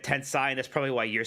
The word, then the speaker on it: Tensei: So Tense E. It's Tensei, not Tensei. Tensei. Okay. Tensei, not Tensei. Like Sensei. Like rhymes with Sensei.